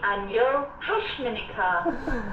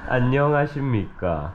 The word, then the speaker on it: 안녕하십니까: Okay, no, you're saying it wrong. It's yeah. Like this. 안녕하십니까. 안녕하십니까.